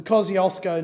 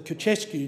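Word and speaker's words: Kosciuszko: While following the Black Summer bushfires, the Kosciulsko National Park, which I have absolutely mispronounced, Madam Deputy Chair, received generous donations from Poland. They, of course, would call it the Kosciusko National Park.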